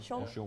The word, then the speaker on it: Sion: Is it Sean? Sion? Sure. Sure. Sion? Spell it. Sion. Yeah, Sion, yeah. Sion. Sean. Yeah, Sean.